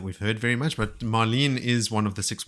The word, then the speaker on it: Marline: heard very much but marene is one of the six wise ones traveling with parin but it's spelled m a r l i n e so it's like marline just a weird RJ spelling and toand if you